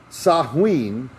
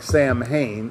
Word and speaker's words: Samhain: The ritual we embrace as Halloween was originally called the Feast of the Dead, or Samhain, which also looks like Sam Hain, Samhine, but it's pronounced Samhain, and was November 1st.